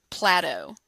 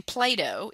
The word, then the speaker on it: Plato: When I taught at Georgia a student talked about the philosopher PLAT-TOE. Of course we know that the name Plato is not pronounced PLAT-TOE and so her classmates